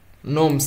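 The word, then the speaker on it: gnomes: ঠিক আছে এদেরকে নাইটস বলে তারপর তোমার এখানে নোমস এটা যেটা উচ্চারণ হবে না নোমস এর হচ্ছে যে তোমরা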